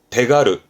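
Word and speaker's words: 手軽: 가루이에서 발음이 기가루가 됩니다. 그러니까 마음 가볍게 선뜻 이런 식으로만 했습니다. 기가르. 손이 붙었네요. 그러면 대가르.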